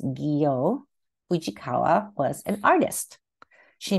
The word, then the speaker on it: Gyo: Gyo, pronounced Gyo Fujikawa, was an artist.